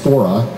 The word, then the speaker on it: fora: these kinds of forums to anglicize a latin word that probably should be pronounced expressed as fora but let's not wander